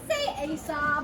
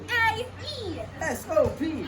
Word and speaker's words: Aesop: I've always heard that it was It Aesop. is proper to say Aesop. In Latin, it was Aesop.